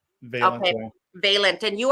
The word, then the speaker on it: Vailiant: Am I pronouncing your name right? Valiant. Vailiant.